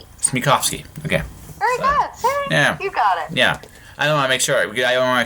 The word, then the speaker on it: Smekofske: actually embarrassing it's it's it's pronounced in 3 syllables it's me coughs me coughs key ok yeah I don't I make sure I don't make sure it doesn't sound funny mr.